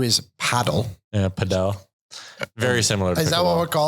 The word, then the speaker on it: padel: I'm pretty sure it's pronounced padel. It was invented in Mexico.